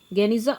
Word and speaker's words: Geniza: Geniza, pronounced here you can see Geniza of the Ben Ezra synagogue.